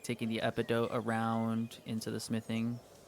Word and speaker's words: epidote: just go um it is pronounced epidote.